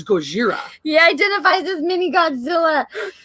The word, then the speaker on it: Gojira: It's Gojira.